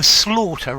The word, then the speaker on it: slaughter: So, slaughter rhymes with daughter.